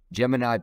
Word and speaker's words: Jemini: Today we're interviewing Jemini. She is a WFP. Did I pronounce that right?